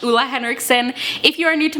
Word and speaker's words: Ole Henriksen: skin care exclusively and yes that is the proper way to pronounce Lua Henrickson if you are new